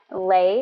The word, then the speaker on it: Lê: Lay is spelled L-E as in life and empowerment, and Lay as in legitimately your go-to friend and guide in this journey, especially in this next hour.